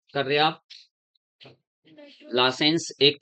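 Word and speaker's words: Lassaigne: less licence test हैय licence जी silent रहेगा licence test लिखते बाय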